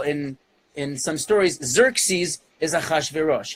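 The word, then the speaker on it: אחשורוש: Because in Hebrew, many times where you start a word with two consonants, you add a vowel before just to make it more pronounceable. So instead of Achshayarsha, you say Achashverosh.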